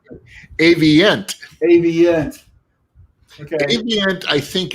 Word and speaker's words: Avient: How do you pronounce it? Avient.